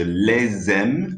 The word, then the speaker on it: les aime: Je les aime. Remember, we pronounce that S on that occasion.